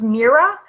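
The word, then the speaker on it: Mirah: just out of this world okay um it's pronounced Mira and if you have read the one gift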